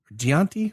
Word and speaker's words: Giacinti: You also have the striker Valentia Gianti with a G. Is it G? Yeah, it's a hard G.